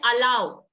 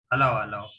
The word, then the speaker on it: allow: a double l o w please check the pronunciation on Google for this word we don't call it lolu we call it allow allow we don't call it elu and I heard